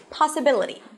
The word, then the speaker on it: possibility: Once I add the suffix, ri, it changes the stress. The placement is changed. So it turns into possibility.